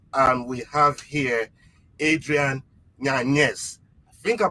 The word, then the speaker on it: Yanez: name is and we have here adrian yanis i think i pronounced it right adrian yes mr knockout himself